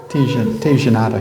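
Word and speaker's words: tigelada: Tijanada. He pronounced it tijanada.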